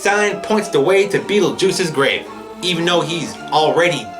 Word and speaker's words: Beetlejuice: Beetlejuice.